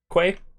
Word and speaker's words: Quay: Okay, so this zone, Quay, is what everybody calls it. That's pronounced Key, by the way. Q-U-A-Y is called Key.